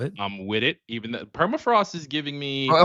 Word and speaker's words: Permafrost: Even though perafrost is giving me Hold on. Hold on. You're not pronouncing her. Per perafrost. Perrost. Perafrost. There you go. You got to roll R.